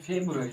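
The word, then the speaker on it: February: इसकी मीनिंग होती है फरवरी की, इसको हम लोग पढ़ते हैं फेब्रुअरी, फेब्रुअरी, फेब्रू, BRU, फेब्रुअरी, ARY।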